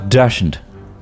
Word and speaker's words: dachshund: Dachshund.